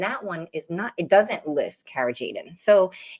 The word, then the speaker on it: carrageenan: And that ingredient that I mentioned earlier that I just learned about over the last week was carrageenan. Am I pronouncing that correctly?